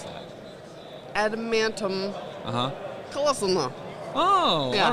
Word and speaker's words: adamantium: all right so i always tried to say adamantium colossal knot and i said it correctly there that might be the first time i took that time how would you pronounce that adamantium uh-huh oh all right now that works uh